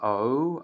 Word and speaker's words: owe: This consonant, letter W, is not pronounced, so it's like a semi-vowel, but in spelling it remains a consonant. The words are O, O-W-E, U, E-W-E, or, A-W-E, law, L-A-W, and few, F-E-W.